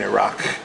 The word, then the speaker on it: Iraq: It's not Iraq. If you want to say it properly, it's Iraq.